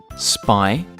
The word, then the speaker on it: Spinosaurus: Spinosaurus. Can you say it with me? Spinosaurus.